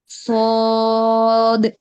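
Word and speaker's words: ص: সদ খদের মাখরাজ হচ্ছে গিয়ে জিহ্বার আগা সামনের নিচের দুই দাঁতের আগার সঙ্গে লাগাবো।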